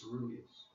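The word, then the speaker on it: coeruleus: So that's how you pronounce this word, is ceruleus.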